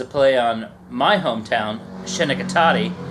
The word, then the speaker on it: Schenectady: play on my hometown shenikati aka schenectady uh i like that none of you pronounce it right that's the only recurring